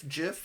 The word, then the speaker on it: GIF: I saw a video that so pointedly put it out because it's It's a soft G, not a hard G.